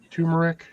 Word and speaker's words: turmeric: Turmeric. Oh, I didn't know that she collected doorknobs in the real life. That's kind of cool. Depending on how you pronounce that word, it's term, Eric.